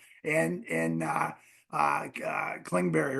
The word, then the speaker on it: Kingsbury: some big calls and in uh uh uh kingberry right that's his name is that how you say it their offense coordinator Cliff Kingsbury yeah he threw he threw a freaking fullback